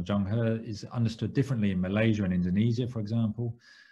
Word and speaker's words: Zheng He: which histories, in particular, to give it the Chinese pronunciation of Zheng He, is understood differently in